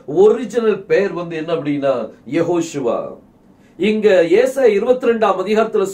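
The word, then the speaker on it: Yehoshua: வார்த்தையை இந்த யுசுவாங்கிற வார்த்தையை அவங்க யாஷுவா அப்படின்ட்டு உச்சரிப்பாங்க அதுல இந்த நடுவுல இந்த ஹெச் என்ன செய்யாது வராது வெறும் இய வந்து ஏன் மட்டும் தான் மாத்தி இருப்பாங்க சோ இந்த யாஷுவாங்கிற உச்சரிப்பு இது அராமிக் மொழியில் உள்ள உச்சரிப்பு இது ஹீப் மொழியில் உள்ள உச்சரிப்பு கிடையாது ஹீப் மொழியில நம்ம இயேசப்பாவினுடைய ஒரிஜினல் பெயர் வந்து யெகோஷுவா தான் அது யாரும் மாற்ற முடியாது நிறைய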